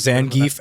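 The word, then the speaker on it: Zangief: that so it wouldn't it wouldn't be pronounced Zang no it's zangi Russian so so the EI or whatever makes the e in Russian yeah he's he's Russian it's e I'm Russian you are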